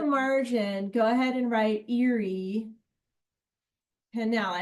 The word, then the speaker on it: Erie: So in the margin, yeah, in the margin, go ahead and write Erie Canal. It sounds like Erie, like woo, Erie, but it's not. It's spelled differently.